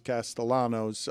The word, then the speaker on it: Castellanos: Uh, I was surprised to see Nick Castayanos, although he pronounces his Castellanos.